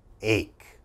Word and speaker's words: ache: mispronounce this word uh this word has ch in it so a lot of my students say h okay that's wrong that ch has to have a strong k sound ache ache what is